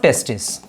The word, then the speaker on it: testes: So pair of testes. See, if you write T-E-S-T-S, testes we should pronounce.